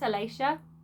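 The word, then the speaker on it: Aleja: name I think it's Alicia but it's spelled a-l-e-j-a and I kept pronouncing the J but I wasn't supposed to so I think it's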